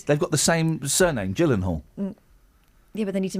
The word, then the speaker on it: Gyllenhaal: Gyllenhaal. Yeah, it's a soft G.